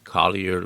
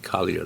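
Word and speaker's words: Collier: That's spelled C O L L I E R, by the way. Kier Ledge.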